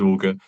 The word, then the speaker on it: Auger: We get a lot of different things from Auger to Auger to Ogre to all kinds of different things. So it's nice to hear correctly. It is Auger.